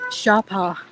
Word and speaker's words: Sapa: little bit of research it's not actually pronounced Sapa although it's spelled that way sa a pa a it's actually pronounced Shara what am I looking